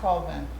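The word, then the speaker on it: Colvin: c o l v i n so it's pronounced cvin okay first name is clud Claud c l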